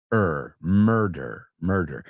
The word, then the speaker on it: murder: La U no es U, sino murder.